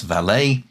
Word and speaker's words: valet: I pronounce it as valet with the stress on the va. I know a lot of people pronounce it as valet with the stress on the lay.